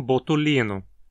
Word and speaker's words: botulinum: Outra espécie é Clostridium botulino, conhecida por produzir a poderosíssima toxina botulina e causar a intoxicação conhecida como botulismo. Aqui a penúltima sílaba, li, tem vogal longa e precisa levar o acento.